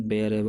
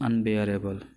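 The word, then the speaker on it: unbearable: जब वो अनबेयरेबल, इसका प्रोनाउंसिएशन बेयरेबल, अनबेयरेबल होता है, बियरेबल नहीं होता। Correct pronunciation is अनबेयरेबल, bear.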